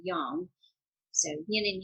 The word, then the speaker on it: yang: also what yin and how we pronounce it here in the western world is yang but in the proper way is actually young so yin and yang need to be in